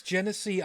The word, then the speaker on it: Genesee: Actually, it's properly pronounced Milwaukee and means the good land. We're not worthy. We're not worthy. No, it's Genesee.